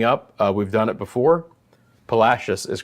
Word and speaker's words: Palacios: Palacios is correct, but we all know what you mean.